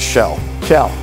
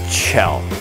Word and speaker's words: Kjell: dell i can't remember you want the english pronunciation or the norwegian norwegian is shell that's pronounced it's chill chill doesn't know i mean